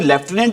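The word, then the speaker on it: lieutenant: कैसे याद रखना है अी लू लूटी नेंट इसकी स्पेलिंग को याद रखना है अी कैसे लूटने इसको बोलते क्या है अी लेफ्टिनेंट एक पोस्ट होती है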